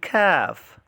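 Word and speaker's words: ك: very important uh they are uh cough and calf cough and calf so cough is a heavy letter and it is pronounced with a full mouth while calf is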